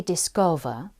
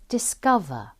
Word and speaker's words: discover: Notice the next words are spelt with an O vowel, and the O says For example, we don't say discover, but we say discover.